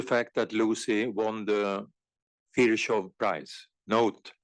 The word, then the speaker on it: Virchow: thanks to the fact that Lucy won the fishov price note how to pronounce fishov our area was recognized globally beyond our already